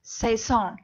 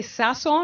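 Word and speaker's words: sazón: Okay, so today I'm chopping up one of my favorite pastime seasonings, and that is saison. Did I say it right? It's actually sazon, Sazon, but I okay.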